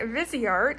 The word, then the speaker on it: Viseart: ahead and i ordered the visi art or viseart depending on how you pronounce it but it is i believe viseart and this is the